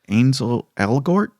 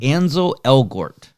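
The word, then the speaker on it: Ansel Elgort: because i always it up ainsle elgort ansel where is it written i got to see it second line anzo elgort yeah anzo i think is his name i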